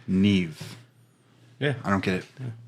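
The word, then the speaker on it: Niamh: a girl on there her name is Neeve but it's spelled ni i a m GH I believe yeah be wellsh it's not it's it's Irish oh no that whole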